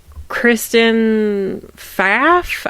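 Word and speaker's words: Kristen Pfaff: was ruled uh Kristen faf I think the p is silent yeah uh died June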